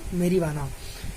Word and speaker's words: marijuana: जे is pronounced as, इट इज not pronounced as जे। ठीक है, मेरीवाना।